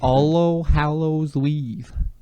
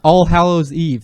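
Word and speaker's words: All Hallows' Eve: All Hallows Weave. Is that how you say it? Is it All Hallows Eve?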